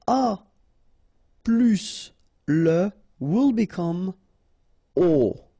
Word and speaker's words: aux: Okay, so you can see that here you combine a plus les and you will get this aux, okay, and then phonetically you produce it or you pronounce it o.